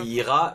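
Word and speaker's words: hijras: Moi, je dis IRA parce que le J se prononce peut-être R en espagnol. Dimitri, j'attends ton WhatsApp audio pour m'expliquer ce que sont les IRA.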